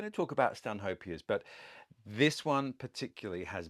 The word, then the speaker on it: Stanhope: his title, the Earl of Stanhope, and you pronounce his name Stanhope.